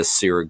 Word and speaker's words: Syrah: I just immediately thought, okay, wine, and it's made with, like I said, the Syrah grape.